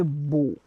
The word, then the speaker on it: beau: In English we say beautiful, but in French we say beau, beau, because we will not pronounce ending.